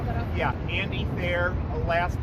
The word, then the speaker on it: Thayer: Can you say your full name again and then spell that out? Yeah, Andy Thayer, last name spelled T as in Tom, H-A-Y-E-R.